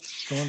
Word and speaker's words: Strawn: There was this research that was conducted by Sam Nicholson and Rod Strawn, I believe is how you pronounce the last name. Yep, Strawn, that's correct.